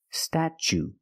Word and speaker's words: statue: Then we use the ch sound, statch, statue. For the second syllable, we use the long oo like boot and moon, oo. Together, statue.